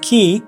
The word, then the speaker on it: chi: the body has an energy flow known as key pronounce Chi which can become disrupted by stimulating certain